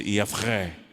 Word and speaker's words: Yahvé: Na verdade, Yahvé, a pronúncia Yavré.